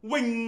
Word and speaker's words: 扔: 錯啊，呢個字嘅正音讀音係 wing 啊。